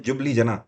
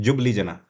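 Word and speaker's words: Ljubljana: एल से इसको लिखते हैं, JUBLJANA। नाम इसको कैसा पढ़ते हैं? जुबली जना, ठीक है। बट एल से ये चालू होता है, एल इसमें साइलेंट रहता है।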